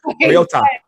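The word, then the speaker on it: Mariota: Marota Marota is he might play, he might not.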